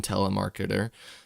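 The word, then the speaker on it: Telemachus: You said you find it interesting how almost everyone depicts him as older than Telemarketer, uh, which is the correct pronunciation of Tmicus when he was likely only one year or younger, one year younger or older than him.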